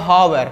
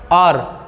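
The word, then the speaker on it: hour: इसको हमें पढ़ेंगे तो आप लोग मतलब कि उच्चारण कीजिए। अगर इसको बच्चा पढ़ेगा हावर, तो हावर लिखल है, इसको अगर कोई पढ़ेगा कि हावर, तो हावर लिखल है, नहीं, इसका उच्चारण होता है आर, 1 आर, 2 आर, इसका उच्चारण हमारा एन आर्स।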